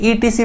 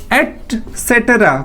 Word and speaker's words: etc.: Generally हम reading के दौरान कुछ बच्चे ETC पढ़ देते हैं. This is called एटसेट्रा.